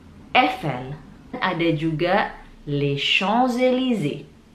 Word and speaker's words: Champs-Élysées: Dan cara bacanya La Tour Eiffel. La Tour Eiffel. Eiffel. Ada juga les Champs-Élysées. Les Champs-Élysées.